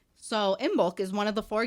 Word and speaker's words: Imbolc: hubby lobby whatever okay how do you say it in bulk i am b-o-l-c in bulk in bulk unless you're a british and then it's imbolc embolk yeah we listened to